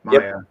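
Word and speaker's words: Maija: It's spelled funny. Yeah, M-A-I-J-A, Maya.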